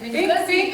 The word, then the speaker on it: Ngozi: Ngozi, okay, it's like guzzle.